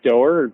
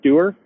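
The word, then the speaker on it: Doerr: what matters by john i think his last name is pronounced doer doer it's a great book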